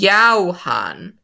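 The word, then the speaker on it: Yaohan: for everyone wait johan is that what you're supposed to pronounce it in english i mean it's a japanese company you're supposed to pronounce this yao han in chinese they literally translated the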